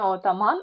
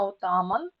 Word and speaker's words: отаман: напій а обруч ознака отаман не отаман а отаман Павич піцерія пертух АА